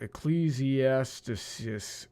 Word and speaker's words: Ecclesiastes: that right, I feel like I'm missing a syllable. Ecclesiastes.